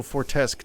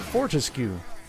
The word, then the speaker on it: Fortesque: __ ] you they say he says Daniel fortesque twice in the review which like if you google Fortescue like how to pronounce it I guess fortesque might technically be